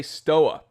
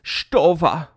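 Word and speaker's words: Stowa: I say Stoa, and people are like, oh, it's Stova. Why don't you pronounce it Stova, Time Teller? Well, it's because I'm American, and it's not that I'm stubborn or ignorant. It's that I'm reading that German name in American English.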